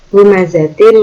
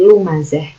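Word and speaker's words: لمزة: Lumazatil lumazah, bukan lumazat tapi lumazah.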